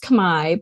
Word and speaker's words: Khmer: Yes, it's pronounced Khmer, but it's also can be identified as Cambodian.